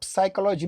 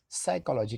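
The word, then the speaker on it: psychology: साइकोलॉजी, अब साइकोलॉजी में पी की जरूरत नहीं पड़ेगी, साइकोलॉजी, कहां कौन सा अक्षर साइलेंट है उसको भी समझना पड़ेगा।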